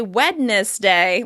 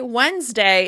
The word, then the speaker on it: Wednesday: As you can tell, we pronounce this day of the week very different than how it looks. This has to do with the history of the word and how it's evolved. Even though it looks like we should say Wednesday, we actually say Wednesday in American English.